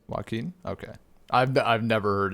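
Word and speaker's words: Joaquin: dude uh W Phoenix yeah how do you pronounce his name waim waim okay I've I've never heard it said aloud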